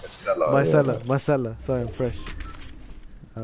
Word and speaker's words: micellar: You make it sound like it's two different words. It is micellar. Yeah, but you said like it's my cellar. Oh, Like a cellar. micellar, Yeah. micellar.